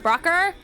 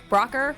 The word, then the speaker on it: Broucher: It is pronounced Brocker. Brocker.